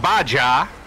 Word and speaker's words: Baja: It's pronounced Baja.